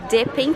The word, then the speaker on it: dipping: YouTube, já sabe que a gente vai falar dipping, porque se tem double consonants, esses dois P's aqui, então significa que a vogal anterior não pode ser um ditongo.